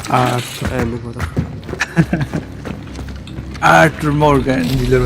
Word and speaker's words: Артур: Ударение на Артур.